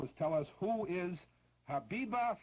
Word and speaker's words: Habiba: All you have to do is tell us who is Habiba Farim. I'll spell it for you. Habiba is spelled as it sounds, H-A-B-I-B-A, and Farim is just like it's pronounced too, F-A-R-E-E-M, Habiba Farim.